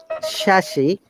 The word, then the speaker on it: chassis: Once again, Illinois, debris, shashi, shamoy. There is no S sound.